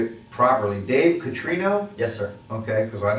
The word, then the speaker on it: Catrino: In this particular case, we've got, I'm going to say it properly, Dave Catrino?